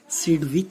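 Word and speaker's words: Sidgwick: और ये इसको हम सिडविक थ्योरी भी कहते हैं, इसमें G साइलेंट है, सिडविक थ्योरी।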